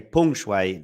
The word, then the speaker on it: Peng Shuai: In fact, I should say Peng Shuai, the correct pronunciation.